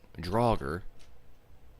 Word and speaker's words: Draugr: Maybe even 20, if you're lucky enough to have some of the Draugr Knights, which, if you see my last video, I pronounced it Draugr because I was an idiot. It's actually pronounced Draugr.